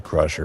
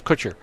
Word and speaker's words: Kutcher: far as are you talking about the Ashton Crusher full paw no what what happened with Ashton it's Kutcher him too yeah I really don't care I